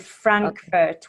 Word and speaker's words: Frankfurt: the first syllable leaving and Frankfurt will be the first syllable as well okay the rules for